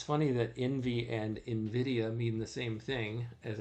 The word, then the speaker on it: Nvidia: It's just the name Invidia sounds the same. I guess that's Latin as the company name as I've heard it pronounced. Nvidia.